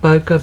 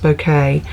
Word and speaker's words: bokeh: it's like that bouquet some people call it bokeh but it is pronounced bouquet uh it's like the